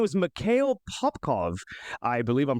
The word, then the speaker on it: Mikhail Popkov: His name was Mikhail Popkov. I believe I'm pronouncing that right. m i k h a i l p o p k o v.